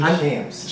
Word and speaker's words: Shampz: King Shampz. I know it's Shampz. It's pronounced like it's spelled. Listen.